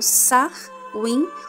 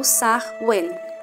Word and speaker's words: Samhain: Samhain é pronunciada como Sar-win ou Sar-wen.